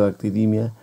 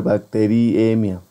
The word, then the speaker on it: bacteriemia: tiene bacteriemia y bueno no olvides que es con verdad bacteriemia porque en inglés se escribe bacteremia y se pronuncia bacteremia pero eh en español tendría que ser bacteriemia bueno Eh si la